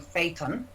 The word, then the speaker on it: Phaethon: The Geminids are produced by debris left behind by an asteroid known as 3200 Phaethon. Am I pronouncing that right, guys?